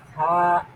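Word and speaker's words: ث: থেকে শিখতে হয় এজন্য আমরা এভাবে বলবো থা বলেন থা নরম হবে একদম নরম থাপরে আচ্ছা স্টপ স্টপ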